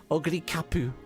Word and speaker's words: Oguri Cap: You know, Oguri Cap is CAP, right? Just Oguri Cap, but they like say Oguri Kapu, like spell it like CAPU, or they say it like CAPU even though it's spelled CAP.